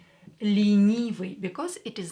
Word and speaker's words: ленивый: Ленивый. E here is not stressed, so we are going to pronounce it as E. Ленивый.